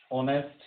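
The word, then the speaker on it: honest: तो यहाँ पे तीनों जगह पे जो एच है वो साइलेंट है और साउंड जो है ओ की है सभी जगह पे।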